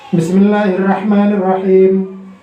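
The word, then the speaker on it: بسم الله الرحمن الرحيم: Sinnya ketebelan shin, masalah. Bismillahirrahmanirrahim. Atau yang bacanya cepat, tidak kelihatan sinnya. Bismillahirrahmanirrahim. Tidak ada. Jadi harus jelas. Bismillahirrahmanirrahim.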